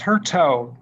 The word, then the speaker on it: Hurto: Hurto. Did I pronounce that correctly? Yeah, it's Hurto. There's actually debate in our family how to pronounce it, so we'll go with Hurto.